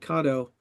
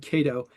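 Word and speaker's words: Kato: Number one, Charles at Cato, and this is the first time that I've said it right. I've always said Cato, but you know, we're using their 11109 drives in our little ON18 engines.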